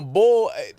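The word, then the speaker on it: boul: It's not B-U-L-L anymore. They took a L off, but then now it's B-O-U-L. Like, but it's bull. Like, okay, it's bull.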